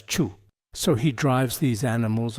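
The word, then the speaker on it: 畜: For the character chew, animal, it might be better to pronounce it as chu.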